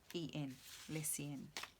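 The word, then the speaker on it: Lecien: So it's L-E-C-I-E-N, Lessien.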